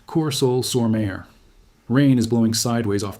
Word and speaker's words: Courseulles-sur-Mer: A German Hauptmann of the 716th Static Infantry Division stands in a concrete observation post above Courseulles-sur-Mer, pronounced Courseulles-sur-Mer.